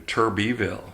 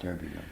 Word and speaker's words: Turbiville: Most of the ones that pronounce it like I do, Turbiville, Turbiville. spell it with an E. I spell it with an I, Turbi.